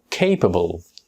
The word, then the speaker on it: capable: By the way, the exact pronunciation of this word is not capable, it's capable. Capable. Repeat after me. Capable. There are three syllables, K, B and bol.